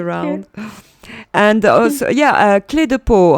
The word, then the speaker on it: Clé de Peau: I'm thinking also about, I will say it in French, the French way, clé de peau.